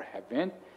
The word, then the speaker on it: haven't: I hear a lot of people say hasn't and haven't. It's wrong to say hasn't or haven't. It's haven't and hasn't. The stress is on the first syllable.